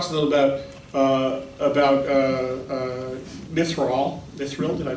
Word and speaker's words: Mithril: So I wonder if you could talk to us a little about Mithril. Did I pronounce that correctly?